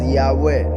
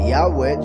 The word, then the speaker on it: Yahweh: Yahweh translated as he exists. He is he is the one who causes to exist. Yahweh. So a would be in the first person when Yahweh himself is saying it. But when he tells Moshe go and tell them about me in the third person that would be Yahweh Yahweh.